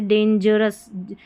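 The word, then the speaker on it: dangerous: जैसे डेंजरस यहां पर डेंजरस। जी के बाद इ है ना तो अ पढ़ा जाएगा। जी ई को वैसे ज पढ़ा जाता है ना?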